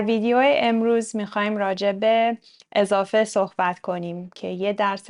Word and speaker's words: اضافه: ترجمه بشه در انگلیسی چطوری تلفظ میشه ا مثل حرف ای در کلمه رد ا و تاکید م نمیشه خب اضافه چندین کاربرد